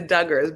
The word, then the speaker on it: Duggar: The Duggars, but I love Dugars.